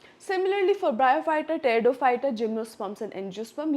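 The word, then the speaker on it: Pteridophyta: उसके बाद हमारा लास्ट ग्रुप है टेरिडोफाइटा। अब इसमें पी क्या है, साइलेंट है, ठीक है, पी क्या है, साइलेंट है, ठीक है।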